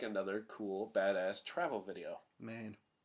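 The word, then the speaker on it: Maine: cool badass travel video main mean no because it rhymes with lane no penis [ __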